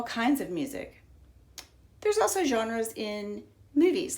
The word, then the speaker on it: genre: here's the word genre I think it's a French word so it has a soft G sound not gah but yeah genre and art and there